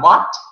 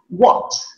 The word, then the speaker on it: what: accent point of view you are supposed to round your mouth for the w pronunciation so it is not what if you watch my lips it's not what it is what okay what i move